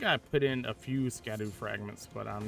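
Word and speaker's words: Scadu: I think I put in a few Scadoo fragments, but I'm not fully sure my Scadoo level is. It's not Scoo. Also, a shadow, but I'm convinced cuz I am like dedicated to just saying it wrong.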